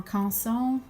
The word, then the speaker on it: Canson: This is 140 Canson, or Canson is the proper French pronunciation, but the blade setting